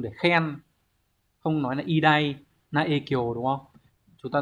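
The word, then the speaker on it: 偉大: Số 2 đọc là idai.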